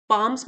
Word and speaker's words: palms: So, the next time you feel your palms getting sweaty, palms मतलब हमारी हथेलियां, L silent है यहाँ पे।